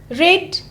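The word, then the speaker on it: read: Go becomes went, come becomes came, eat will be eight और give gave, रीड spelling will be रीड बट पढ़ना है आपको रेड, study studied, watch watched, सिंग sang, teach taught, write wrote, take took, leave left, enjoy enjoyed, walk walked.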